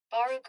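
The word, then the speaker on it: Baruch: Let me check that pronunciation. Bar College. Pronuniation. Baruk College. Baruk. However, his senior year, the campus he attended became Baroo College. As a result, his diploma reads Baroo, not CCNY, which always bothered him.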